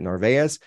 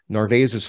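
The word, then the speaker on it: Narváez: I think it's how you say it, Narvaez.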